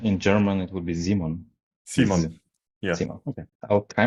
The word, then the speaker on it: Simon: And today we have an interview with Zeon, right? Did I pronounce your name correctly? Zeon, that's fine. And how do you actually pronounce it? Um, well, in German, uh, you would say Simon also I think in